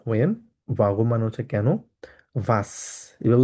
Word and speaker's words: was: ভাস, এভাবে উচ্চারণ করবো, ভাস।